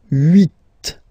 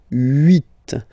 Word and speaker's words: huit: Okay, then here final T is pronounced, so huit, huit. Remember in French this H letter here, okay, doesn't exist phonetically, so we don't really pronounce it, okay, so if you